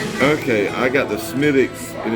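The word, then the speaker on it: Smithwick's: too overbearing yeah okay I got the smittix and it's spelled Smith wigs but it's pronounced smittix now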